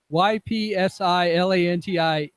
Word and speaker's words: Ypsilanti: I just came to congratulate Captain Jeff, who's once in a while pronunciation challenged, on absolutely nailing the pronunciation of the home of Willow Run Airport, YPSILANTI Ypsilanti.